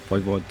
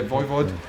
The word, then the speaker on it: Voivod: Is that how you pronounce? Voivod. Yeah, Voivod.